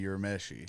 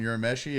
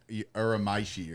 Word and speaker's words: Urameshi: and one of the bands kept calling us Urameshi or something. What? I was like, that's butchered, man.